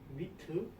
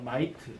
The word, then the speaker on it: might: 발음을 못하겠습니다. 자신 있게 해라. 영어는 자신감이다. 미트 해부본 미트 철자가 왜 되는데요? MIGHT 마이트입니다. 네? 알겠죠? 마이트.